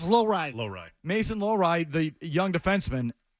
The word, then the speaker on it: Lohrei: Have I pronounced that right? I think it's Lohrei.